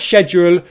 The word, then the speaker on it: schedule: So, how to pronounce schedule with a British accent.